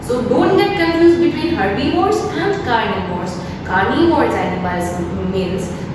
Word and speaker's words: herbivores: Herbivores, carnivores and omnivores. It is not like that herbivorous, carnivorous, omnivores. No, this is a wrong pronunciation, right? So we need to speak herbivores, carnivores and omnivores.